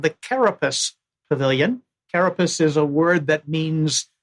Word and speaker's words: carapace: Uh and yes, the Italian pronunciation and even potentially Italian interpretation of the possible Latin meanings. We did think about that with Karapache.